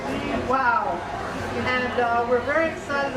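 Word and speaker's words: Lihau: spelled l i h Au U but it's pronounced Lee wow and uh we're very excited about this cat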